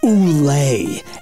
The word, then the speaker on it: Ugly: It's pronounced Oulé. It's French. The G is silent like Lizanna.